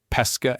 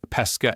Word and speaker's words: pesca: Closed a tongue slightly raised pesca and fishing. Openy tongue slightly lowered pesca and peach. Both words are spelled the same but mean different things depending on pronunciation.